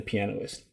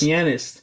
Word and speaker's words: pianist: piano the pianoist yep say come on say it right this is how you say it right the the penis pianist the pianist guy the pianist penis see